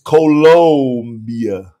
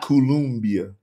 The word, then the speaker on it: Colombia: don't spell it right see you spelling it like Columbia South Carolina it's colia not columia you know I used